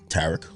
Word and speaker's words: Tariq: Tarek.